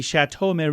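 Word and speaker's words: château: six children and the estate the chatau it's in France that's how you say it properly he suing his act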